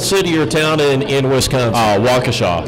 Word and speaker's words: Waukesha: Waukesha. Waukesha.